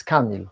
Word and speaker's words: Camille: By the way, it's not Camille, it's Camille. Stress on the first syllable, like most English names and words.